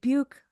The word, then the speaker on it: Buke: a professor recommending you read Buke, rhymes with puke, because something in one of your poems sounded like it came dangling in the Turnifortia.